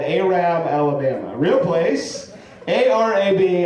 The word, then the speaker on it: Arab: Arab Alabama real place a r a b Alabama really should be pronounced Arab Alabama I love that they